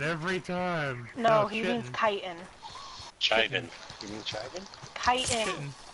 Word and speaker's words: chitin: It's a pronunciation thing depending on where you're at. Thing. It's like here in Washington, just about everyone who's not a grammar Nazi literally calls it chittin.